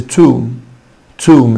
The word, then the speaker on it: tomb: Tomb طبعا هنا حرف ال B silent مش بينطق حبايبي، وما قولش tomb it's a tomb it's long U tomb.